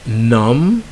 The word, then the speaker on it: numb: pronounce the B okay so they end with M B and if you dropped the B so the B is silent so you have lamb you have comb you have balm you have num yo plum and then you have tomb alright so in all